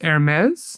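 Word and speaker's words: Hermès: Number four is Hermes, the luxury brand. Yeah. Oh, pronounced well, too.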